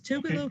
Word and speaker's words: Tougaloo: so uh what about is it am i pronouncing this right is it tougaloo it is it's tougaloo college and so tukulu is considered the cradle